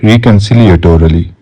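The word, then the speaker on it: reconciliatory: adjective रिकंसिलिएटोरी रिकंसिलिएटोरी ठीक है ये देखो इसका प्रोनंसिएशन ये है रिकन यहां तक हो गया सिल एटोरी रिकंसिलिएटोरी रिकंसिलिएटोरी रिकंसिलिएटोरी ठीक है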